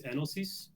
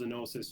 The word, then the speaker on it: Enosis: And in the original Greek, it's Enosis. Mm-hmm. But, we call ourselves Enosis just because it fits better with English pronunciation of it, and it sounds kind of cooler, I think.